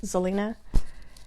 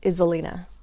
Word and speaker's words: Xellina: my professional career and if i said my name is zelena then somebody's like they start calling me izzalina so lots of fun